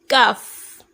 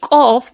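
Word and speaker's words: ق: I could have said kaf, but instead I will say qaf because it's meant to be thick. It's meant to be pronounced thick.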